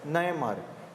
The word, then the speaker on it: Nayanar: Though the textbooks write Nayanar, it is supposed to be pronounced as Nayanmar.